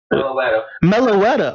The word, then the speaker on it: Meloetta: Meloetta. Okay, that's actually kind of nice. Meloetta. Is Hello. That? I bet that's his name. She sounds like she's getting sensual. Go, Meloetta. Meloetta.